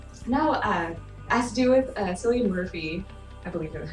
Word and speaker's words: Cillian: But no, has to do with Cillian Murphy, I believe is how you pronounce his name.